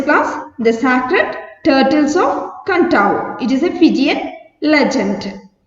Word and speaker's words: Kadavu: okay what's today's class the secret turtles of kantao it is a fijian legend okay are you ready let's start okay listen on the islands of kantao pronounced kantao one of the larger islands of fiji